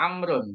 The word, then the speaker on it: عمرو: Kalau Amrun karena dia pakai waw, nah, waw ini berarti bacanya Amrun.